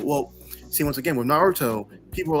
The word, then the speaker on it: Naruto: Naruto the show well see once again with Naruto people were like the show is Naruto or no it's Naruto no it's nutu you know like people were saying the name's